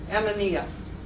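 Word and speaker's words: amoena: A-M-O-E-N-A. Ammonia. Color? Ammonia. It's the color pattern of white standards and color falls. So I'm just telling you in case you hear, oh, it's a wonderful self, you'll know what the heck they're talking about. Could you spell that Ammonia again? A-M-O-E-N-A.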